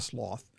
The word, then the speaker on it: sloth: That's how the word is pronounced in Britain. Is really? Sloth. Yes, it's not sloth, it's sloth.